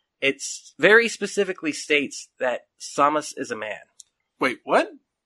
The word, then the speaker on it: Samus: The second, even bigger inspiration I would have to say, though, is the fact that Samus, did I say it right?